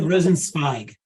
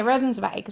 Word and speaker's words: Rosenzweig: Rosenzweig. Okay, Rosenzweig. So the Israeli pronunciation.